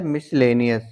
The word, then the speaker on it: miscellaneous: इसे हम कैसे बोले तो इसको बोला जाता है मिसलेनियस या मिसलेनियस मिसलेनियस या मिसलेनियस इसका